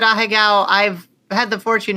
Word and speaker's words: ahegao: The expression, the two little sweat drops, is the bottom, is that a higo? Or a heigo, however you say that, at the bottom? I would pronounce it ahegao.